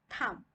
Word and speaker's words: thumb: Today we are going to learn about the silent letter B.